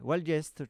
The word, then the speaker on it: Valgeist: Donc voilà, Sea of Class, Enable, Valgeist, puisque c'est comme ça qu'il faut le prononcer, Kew Gardens et puis Way to Paris.